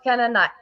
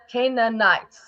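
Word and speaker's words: Canaanites: It's called Canaanite. Canaanite.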